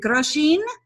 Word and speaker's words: Grosjean: Is it Grosjean? Grosjean, like Americans say, as in Europe we say Grosjean.